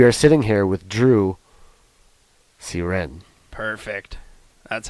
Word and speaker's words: Cyr: your name we are sitting here with Drew seren perfect that's how you say it will you